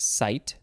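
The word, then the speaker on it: -cyte: It is C-Y-T-E, so you probably pronounce that site.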